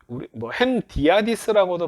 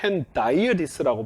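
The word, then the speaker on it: hendiadys: 요게 헨디아디스라고도 발음하는데 저는 미국에서 공부를 했기 때문에 헨다이어디스라고 발음들을 많이 하더라고요.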